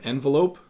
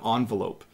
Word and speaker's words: envelope: put it in an envelope but I might also say that I put it in an envelope in Canada both pronunciations are correct but if you're learning